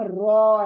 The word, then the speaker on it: ر: इसका नाम रॉ है, रॉ। यानी मोटा करो, मुंह को मोटा करो, गोल करो मुंह को पूरा, होंठ गोल, अंदर से जबान गोल, पूरा मुंह गोल, रॉ। ओ देखिए, ओ मैंने कहा जब भी आवाज आएगी मतलब ये मोटा पढ़े जाने वाला लेटर है, रॉ।